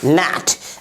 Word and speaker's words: gnat: अगला word GNAT, क्या पढ़ेंगे नैट। अगला एग्जाम्पल RESIGN, इसे क्या पढ़ेंगे रिजाइन। तो हम लोगों ने B silent letter, P silent letter, N silent letter,